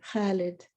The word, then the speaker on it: Khalid: even my eight-year-old could constrict her throat muscles the right way to say khaled immortal like an ancient